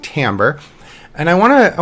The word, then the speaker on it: timbre: know it has an eye it looks like Timber if you want to call it timber that's fine but it's technically pronounced Timbre and I want to I want to kind